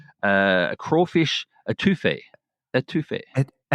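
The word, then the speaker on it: étouffée: Etouffee. Etouffee. That's how you say it.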